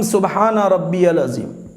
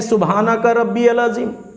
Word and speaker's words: سبحان ربی العظیم: ہے۔ کوئی کہتے ہیں سبحانک ربی العظیم، کوئی کہتے ہیں سبحان ربی العظیم، یہ ایرو غیرو نتا